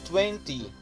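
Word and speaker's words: twenty: O número 20 em inglês nós pronunciamos 20. Também com TY sendo a última sílaba, a sílaba tônica, né?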